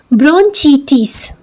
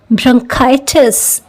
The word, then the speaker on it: bronchitis: इसे just in a very simple sense अगर कोई देखेगा तो पढ़ेगा ब्रोंचीटिस। दिस इज रॉन्ग, ये ब्रोंचीटिस नहीं है, ये है ब्रोंकाइटिस, ओके।